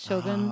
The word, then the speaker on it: Shōgun: the macron over Shogun they put the line over the O because it's a long elongated sound Shogun okay um macrons are